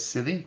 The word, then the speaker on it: Szili: The correct pronunciation for my last name is Szili. Yes, like the English word, because it's a Hungarian name.